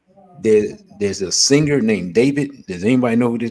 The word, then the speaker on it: D4VD: There's a singer named David. Does anybody know who this dude is? It's spelled D.